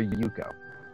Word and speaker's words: Yuko: Also, is it Yoko or Yuko?